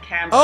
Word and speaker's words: Canberra: It's just said Canberra.